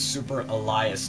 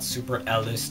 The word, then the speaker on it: Super Elias: say my name wrong my name is Super Elias TM not super Lis TM Super Elias TM